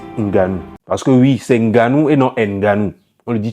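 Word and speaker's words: Ngannou: faites l'effort quand même c'est Francis Nganou le N n'est pas prononcé c'est genre voilà bref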